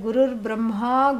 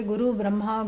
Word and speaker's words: Gurur Brahma: Like Gurur Brahma, Gurur Vishnu, Gurur Devo Maheshwaraha. And so, like, you cannot say Guru Brahma, Guru Vishnu, Guru who, and that becomes Ra because of the Sandhi.